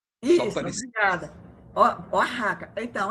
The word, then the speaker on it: Oaxaca: A pronúncia, esse é Oaxaca. É porque eu fiquei na dúvida, né? Porque eu digo... no espanhol, o X tem um som parecido com o R nosso. Só Isso, parecido. obrigada. Oaxaca.